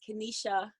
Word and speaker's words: Kenishia: well hi everyone um my name is Kenisha so the eye is silent um I currently live